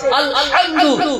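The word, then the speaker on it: الحمد: একটা গলা থেকে উচ্চারণ কর হা এটা হলো বড় হা আরেকটা হা এটা হলো ছোট হা আরবিতে দুটো হা আছে আলহামদু এখানে বড় হা আছে যদি কোন মুসলমান পড়ে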